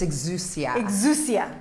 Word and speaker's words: exousia: now give me the the pronunciation it's exousia you gotta get fancy with it yeah it's a great word it's a Greek word yeah what made you